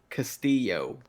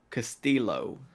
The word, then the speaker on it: Castillo: the time what's your how do you say your name Castillo and what do I say Costello Castillo yeah that the two